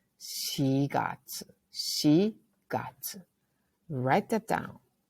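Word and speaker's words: 四月: were to say April it's not yogatu or yongatsu it's she got she got write that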